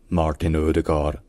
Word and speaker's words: Ødegaard: de famille donc le E barré enfin le E barré c'est comme un e français il y a pas